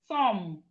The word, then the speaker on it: thumb: We have thumb. Thumb, your thumb. Thumb. The B in thumb is silent.